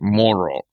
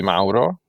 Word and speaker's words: Mauro: And then you come to the US and it's like moral, you know, uh because they cannot pronounce the R. So again, the normal pronunciation will be mao.